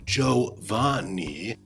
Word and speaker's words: Giovanni: lesson you uninformed noob the giovanni that's pronounced joe van nie convinced an eon's old